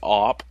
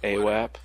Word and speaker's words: AWP: It's actually AWP, not AWAP.